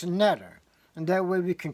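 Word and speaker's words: neter: what we call the netter, N-T-E-R. The main letters are N-T-R. The E is put in the vowel so we could pronounce the word. You couldn't pronounce N-T-R. So we can pronounce netter, and that way we can communicate with it.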